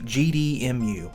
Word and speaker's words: GDEMU: left here we've got What's called the GD muu and it's exactly the way it's spelled gde m u now